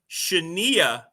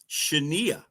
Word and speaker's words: Shania: And a young lady who was getting her career started, who was named, by the way, Shania Twain. Shania.